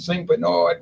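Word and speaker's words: St. Bernard: in araby Louisiana and St Berard Parish that's how they pronounce it down there St Berard Beno I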